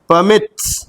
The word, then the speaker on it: permits: So mit पे जोर लग रहा है, that is why आखिरी वाले syllable पे जोर लग रहा है तो double हो जाएगा.